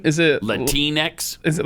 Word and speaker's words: Latinx: proper pronunciation is it latinx is it like kleenex or is it latinx it's latinx that's what i thought